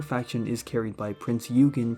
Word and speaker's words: Eugen: is carried by prince eugen pronounced prince oygen and a tiny bit